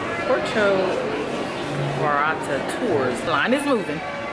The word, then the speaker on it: Puerto Vallarta: of the trip and we are going on Puerto virata oh no let me say it right porcho orata tours the line is moving we're going on